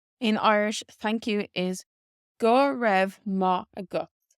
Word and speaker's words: go raibh maith agat: For example, in Connacht, where I lived in Galway out in Gaeltacht, they pronounced it as Gurmad. Gurmad. So it's very, very different to how it's written here.